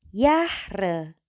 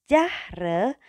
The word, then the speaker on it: Jahre: Nah, untuk J kita bacanya bukan J tapi J atau Y. Contohnya adalah Yahre. Bacanya bukan lagi Jahre tapi melainkan dia Yahre.